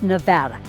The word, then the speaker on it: Nevada: And I go, "No, it's Nevada. Let's learn how to say this right."